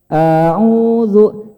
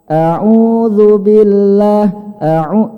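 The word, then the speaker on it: أعوذ: kesalahan yang terkadang terjadi satu memanjangkan Hamzah kadang ada orang bacanya a'udzu Audzubillah a'udzu map bapak dan ibu sekalian Hamzah jangan dipanjangkan yang benar satu harokat anu-anu jangan Audzubillah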